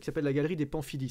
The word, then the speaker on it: Pamphilj: Et qu'à Rome, on a visité un truc qui s'appelle la galerie des Pamphili. Ça s'écrit Pamphilj avec un J à la fin.